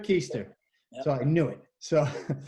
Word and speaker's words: Keister: called his friend Tripp how do you say your last name Easter Easter trip keister so I knew it